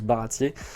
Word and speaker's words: Baratie: Voilà, ça ça se prononce Baratier euh en début de de l'histoire, mais c'est